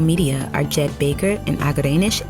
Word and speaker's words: Agerenesh: Executive Producers from Starglow Media are Jed Baker and Agerenesh A. Palmer (pronouncer: Ah-guh-ray-nush) This episode of MUSICLAND STORIES was written by Thom Dunne Alessandro Santoro is our showrunner.